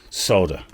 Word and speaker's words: solder: they say the word solder in america because in the uk we definitely say solder don't we yes but in america they they leave the l out solder so it's almost a silent l jump major well you